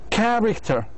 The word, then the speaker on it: character: Character. Character. Character. Character. Character. How many? We have character. And then 3 syllables. Which one has the stress? Which one the strong syllable? The first one.